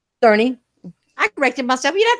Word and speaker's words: Cerny: Dark Cloud has pics with him standing right next to Yoshida and Mark Cerny. I'm sorry, said it wrong. Cerny.